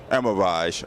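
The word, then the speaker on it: Elmiraj: I'm at Cadillac with David Leone from GM, and this is a concept car for the, how you pronounce it? El Miraj. El Miraj.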